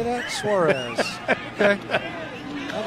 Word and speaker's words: Suarez: Suarez.